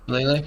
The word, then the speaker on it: shillelagh: Can't pronounce it. The Shillelagh. Shillelagh. Is that how you say that? Yeah. Yeah, Shillelagh. Shillelagh.